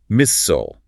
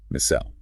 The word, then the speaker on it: missile: Fairtool, Hangelstoll, Missole. Brits, on the other hand, enunciate the entire suffix clearly, rhyming it with the word isle, fertile, H-O-style, missile.